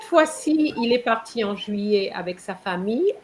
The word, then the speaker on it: juillet: So remember, CETTE has the same pronunciation as seven. Okay. Then il est parti en, what's July again? Juliet, No. Juillet.